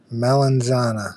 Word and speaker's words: melanzana: It's pron it's spelled m l e n z a n a and that word in Italian means eggplant melanzana Hello. The Z is like a Y if you want to say that sometimes.